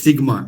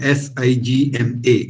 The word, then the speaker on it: sigma: you should understand sigma this is a greek letter pronounced as sigma s i g m a sigma this is a capital